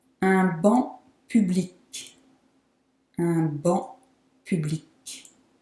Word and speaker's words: banc: Un banc public. Un banc public. So the C in banc is silent, but the C in public is not.